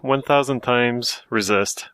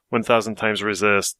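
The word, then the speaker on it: 1000xRESIST: uh so I played 1,000 times resist which uh yes that's a that's the title that's how you say it apparently chew with devop and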